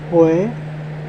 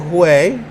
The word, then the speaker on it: Huế: We're about 133 miles from Hue Hue, or Hue. Hue, Hue, Hue. Okay, so not Hue, but Hue. It's spelled like Hue. H-U-E. But it's Hue.